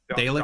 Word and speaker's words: Dalek: I have all of my Dalek tokens set aside. Am I pronouncing that correctly? Dalek? Dalek?